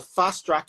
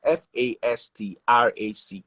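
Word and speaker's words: Wealthfastrack: T, so it is F-A-S-T-R-A-C-K. So it's more like fast rack, and fast rack, not fast track, fast rack. Even though it's actually fast track, it's spelled fast rack.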